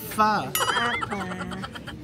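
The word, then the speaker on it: phở: beef fa tikman natin Vietnamese fa fa It's pronounced as fa Okay na and Filipino breakfast tikman natin ang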